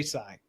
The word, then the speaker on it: Sales: Francis de Sales. It's spelled sales, but I think it's pronounced "sai" because it's French.